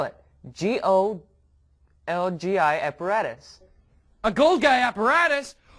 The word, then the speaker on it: Golgi: here i'll spell it g-o-l-g-i apparatus a gold guy apparatus awesome i'm going to get rich in this cell did you eat not a gold guy apparatus a golgi apparatus what's that well it